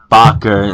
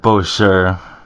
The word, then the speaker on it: Bacher: So also, just to correct myself, it's pronounced Bacher instead of Bosher. That's it. All right, got it right. All right, It's the French version.